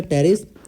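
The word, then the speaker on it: Pteris: ये टेरिस, पैड मतलब PAD, तो ये साइलेंट है, P से टेरिस, एडियंटम और D से ड्रायोप्टेरिस, ये हो गया।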